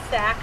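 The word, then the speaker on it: sacque: This is known as a state of undress called a sack and a petticoat.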